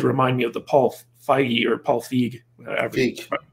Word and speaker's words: Feig: me of the Paul Feig, however you pronounce his name, situation where basically it's not with an A, even though many are tempted to think that. But it's Feig.